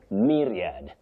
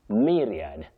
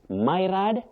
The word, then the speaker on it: myriad: Collins, you say myriad. Myriad. Not myrad, not married, myriad.